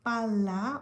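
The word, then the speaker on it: pala: পাল্লা অর্থ বল। এজন্য উচ্চারণ ভালোভাবে শুনতে হবে। পালা পাল্লা। ভিতরে দুইটা এল আছে।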